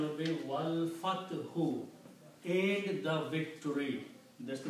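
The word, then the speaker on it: وَالْفَتْحُ: So when you read Wow, you do not pronounce this alif in between. Combine Wow with the lam. Wal Fathu.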